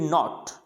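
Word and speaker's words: knot: फिर नॉट, यानी यहाँ पे भी के साइलेंट है, क्या पढ़ा जाएगा, नॉट, यानी के होगा लेकिन उसको पढ़ा नहीं जाएगा।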